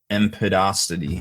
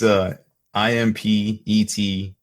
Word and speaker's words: impetuosity: So first up is overwhelming impetuosity. I forgot. How do you say that, Haspel? Impotent. I don't know. You'd have to spell it. I don't know how it's. Overwhelming. It's IMPETUOSITY.